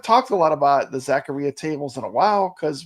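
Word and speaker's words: Zaccaria: games uh Jason says it actually does rhyme with diarrhea Zacharia am I saying it right Jason Zacharia so it is Zacharia Zacharia Zacharia Zacharia not zachar or Zacharia or Zakaria yeah it's Zacharia Zacharia Zacharia okay I think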